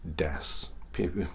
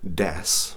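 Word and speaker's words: です: The same thing happens with probably a particle, or well, actually it's a word that you're very familiar with, which is des.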